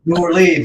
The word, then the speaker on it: New Orleans: Yeah, New Orleans, right?